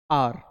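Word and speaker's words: hour: ठीक है अब देखो आर इसको क्या बोलते हैं आर इसमें एच साइलेंट होता है तो इसको बोलते हैं एन आर क्या बोलेंगे बेटा एन आर एच साइलेंट हुआ एन ऑनेस्ट बॉय एन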